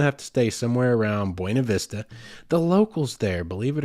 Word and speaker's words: Buena Vista: certain portion of them call it Buena Vista and that's actually even in documentation from the early days of the Town it was almost taken on as a pronunciation and that is just an absolute travesty that is an affront to the Spanish language and I refuse to